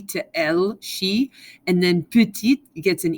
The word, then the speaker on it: petite: elegrand okay so notice when it's a female adjective you hear the end of the word it's not puti it's petite it's not gang it's